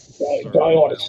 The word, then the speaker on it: Dionysus: Dionysus.